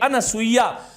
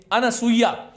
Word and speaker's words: अनसूया: ऐसा होता है और यह अनुसुइया अनसूया कुछ लोग तो अनसूया लिखने हैं इसका सही जो है उच्चारण होना चाहिए अनसूया कितनी महत्वपूर्ण शक्ति भारत